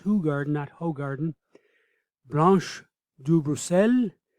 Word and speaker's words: Hoegaarden: examples of this beer are Hoegaarden that is pronounced Hoegaarden at Hoegaarden brauch do bracel and vidiq erika